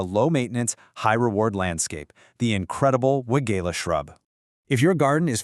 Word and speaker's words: Weigela: It's pronounced Weigela, and it's a fantastic deciduous shrub belonging to the honeysuckle family.